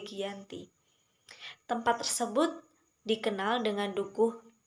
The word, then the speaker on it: Giyanti: lokasi penandatanganan perjanjian yaitu di desa Janti dalam pelafalan Belanda disebut Yanti dan secara tertulis terbaca sebagai Giyanti tempat tersebut dikenal dengan